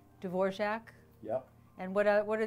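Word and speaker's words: Dvořák: word in there was dvorac because there's no J sound it's d v o r a k oh so you have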